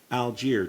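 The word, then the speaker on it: Allgeier: Tyler Algier. Did I pronounce his name right?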